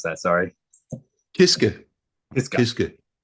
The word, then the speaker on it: Kiske: Kiske, with a short e, Kiske.